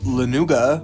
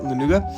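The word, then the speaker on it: lanugo: Is they have fur called lenuga, which is I think that's how you pronounce it, lenuga.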